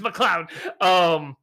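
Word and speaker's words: MacLeod: It's McLeod.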